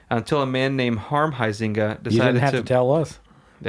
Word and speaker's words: Huizinga: ze in GA but the U is silent oh that's a different noise Whois anus yeah yeah poising a sorry causing us know the huizinga family they're from the